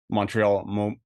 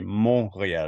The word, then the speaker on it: Montreal: kept calling like uh Montreal Montreal but it it's actually supposed to be mon so you don't pronounce the T man people have a